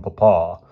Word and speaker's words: papa: about my allowance from papa he accented the second syllable he always sends it